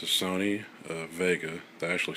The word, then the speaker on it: Wega: come across this TV um it's a Sony Vega they actually spell it Vega but it's supposed to be pronounced Vega um it is a 30in HD TV CRT